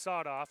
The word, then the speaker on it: Sadoff: text message came through said that sadoff is pronounced sawed off so i apologize for